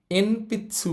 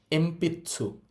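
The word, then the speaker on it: えんぴつ: তাহলে এটাকে আমরা এন পিচ্চসু বলবো না। এটার উচ্চারণ হবে এমপিছু।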